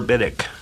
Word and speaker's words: Biddick: Keep on tracing Laura Biddick. Biddick rhymes with Riddick.